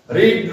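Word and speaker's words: read: present ফর্মে রিড আর past ফর্মে কি হবে জানো এই যে এইটা রেড রেড আবার পাস্ট পার্টিসিপল ফর্মেও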